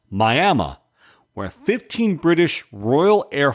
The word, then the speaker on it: Miami: Today, we visit a local cemetery in Miami, Oklahoma, pronounced Miami, where 15 British Royal